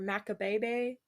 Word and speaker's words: Macabebe: born in maccabibi or macabebe ooh people I love online at versions yeah online it was like basically pronounced like you're trying to say make a baby shit's creek when